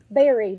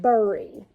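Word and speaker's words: bury: those means berry b-u-r-y in some places people don't pronounce this berry they pronounce it burry okay i believe that's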